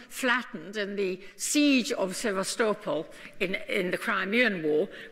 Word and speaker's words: Sevastopol: name it spent variable city say vastus police Sevastopol as they pronounce it now I knew many of you